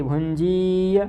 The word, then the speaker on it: भुंजीय: तो यहाँ भुंजीय, ये थोड़ी बड़ी ई है इसलिए भुंजीय ऐसा उच्चारण करना है।